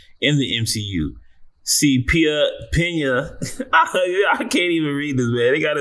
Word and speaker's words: Peña: All right, Michael Pia, his name is Pena. They got his name wrong. This entire article it is PA.